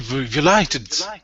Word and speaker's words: violated: We're going to have 4 syllables, and the break is right here. So violated. Violated. Yeah. Just remember it's a long I.